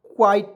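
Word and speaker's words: quite: word में क्यू हो किसी भी वर्ड में क्यू हो तो क्यू का उच्चारण आधा क्वा के रूप में करते हैं क्वा क्वा ठी क्या करते हैं क्यू हो किसी वर्ड में क्यू हो तो क्यू का उच्चारण क्या करते हैं क्वा के रूप में करते हैं जैसे एग्जांपल के रूप में क्यू यू आई टी क्वाइट पढ़ेंगे अब कहिए सर जी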